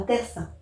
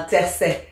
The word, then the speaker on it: tercet: Une strophe de 3 vers s'appelle un tercin. C'est faux. Un tercet, C-E-T.